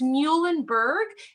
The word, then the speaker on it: Muhlenberg: be confusing so it's muhlenberg easy way to remember that is our mascot is a mule the animal so his name is